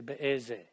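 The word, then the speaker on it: באיזו: And it's spelled be'ezo sha'a. That's the feminine form. But I'll bet you a nickel, even though they're spelling it be'ezo, on the tape they're going to say be'eze.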